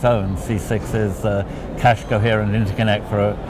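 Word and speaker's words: CCIX: C6 is cache coherent interconnect for accelerators, spelt with a slightly strange way, because accelerators doesn't begin with an X, but that way you can pronounce it C6, which is the way everybody likes to pronounce it.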